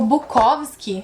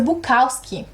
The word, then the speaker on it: Bukowski: devia chamar Joan propósito sabe que eu descobri esses dias que o bukovski se pronuncia Bukowski isso assim abalou a minha vida sabe eu ainda tô tentando me recompor a minha vida toda foi uma mentira mas na verdade Bukowski é a pronúncia em inglês todo mundo aqui no Brasil todo mundo mesmo até me professor fala bukovski mas enfim não tem